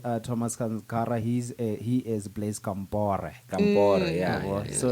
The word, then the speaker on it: Compaoré: He is Blaise Compaoré.